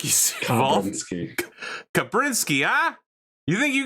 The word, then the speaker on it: Kabrinski: I'm trying to figure out how he pronounced Kabrinski. Kabrinski? Oh yeah, it's definitely Kabrinski.